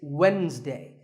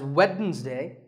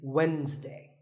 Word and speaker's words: Wednesday: of the week it's Wednesday the D is silent sometimes it's pronounced as weddings day but the proper way to say it is Wednesday what about this word